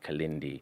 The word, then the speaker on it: Kilindi: His name is spelled Kilindi, Kalindi.